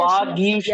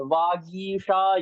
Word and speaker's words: वागीशा: वागीशा यस्य वदने लक्ष्मी यस्य च वक्षसि वागीशा, यस्य। ग गा में जो ईकार की मात्रा बड़ी है। वागीशा यस्य वदने लक्ष्मी यस्य च वक्षसि, ऐसा है।